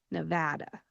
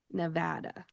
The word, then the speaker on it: Nevada: When you say this state name, you are going to say Nevada. Nevada.